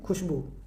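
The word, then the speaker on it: خوشبو: लेकिन हम पढ़ते हैं खुशबू। है ना? तो कुछ पढ़ तो रहे हैं ये लेकिन लिखा जा रहा है ये वाला यानी यहां भी वाव मादुला है। वाव साइलेंट है।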